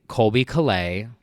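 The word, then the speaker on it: Colbie Caillat: So one of my favorite Christmas songs is an underrated gem by Colby Calais.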